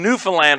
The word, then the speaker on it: Newfoundland: it he nailed it a lot of people say newfoundland and it's kind of how it's spelled but that's not how they say it they say newfoundland and newfoundlanders you may